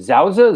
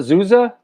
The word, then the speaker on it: Souza: do you pronounce it zouza zuza actually souza with an s i believe for the uh person